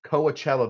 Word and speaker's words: Coachella: that is the right way to say it Coachella Valley if you're down there you're going to